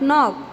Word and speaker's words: knock: K is silent here. N ok knock.